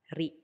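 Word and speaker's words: リ: Katakana ri, pronounced as ri, ri, ri.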